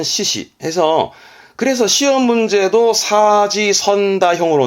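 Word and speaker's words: 四肢: 발음은 시시 해서 그래서 시험 문제도 사지선다형으로 나오죠.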